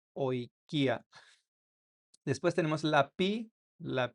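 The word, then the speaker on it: οἰκία: minúscula como nuestra minúscula y se pronuncia como una O, como en la palabra oikia, oikia. Eso significa casa en español, entonces se pronuncia oikia.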